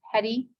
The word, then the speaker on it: petty: already know that word petty, but in French it's spelled like that, P-E-T-I-T, but it's pronounced the same way, petty.